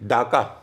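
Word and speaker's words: Dacca: उसका उसकी स्पेलिंग थी डाका डी डी A double C ए डी ए हा क्यों डाका क्योंकि वो डाका ही बोलते थे भले बंगाली लोग उसको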